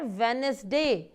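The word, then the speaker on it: Wednesday: Thursday व्यय व students silent होता है जिसको हम बोलते हैं इस की आवाज नहीं निकाल तो यह बन जाता है वेनिस वेनिस वेनिस वेनिस वेनिस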